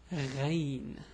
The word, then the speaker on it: Ghayn: Anyway, so the name of this letter is Ghayn. Yeah, it's a bit hard also to pronounce. The way the pronunciation is gha. Maybe it's similar to the French R somehow, but anyway, it's gha.